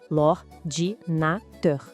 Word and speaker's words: l'ordinateur: Em francês, a palavra é l'ordinateur. A pronúncia parece difícil, mas não é. Vamos lá. L'ordinateur.